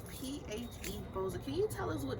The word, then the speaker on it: PHeBo5a: We are here today with PHeBo5a. Is that how you say it?